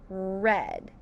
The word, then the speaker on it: read: And when it's past tense, that long E turns into a short E. It turns into the word read. Like I have already read that book. Let's sound out read. Sounds like a short E, but still spelt with that vowel team.